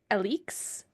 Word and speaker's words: Alex: Interestingly enough, chapter 38, Alex, which I actually learned her name is pronounced Elix. That's what you said. I don't know if I like pronouncing it like that. We're so far into it now and I keep calling her. We are so committed to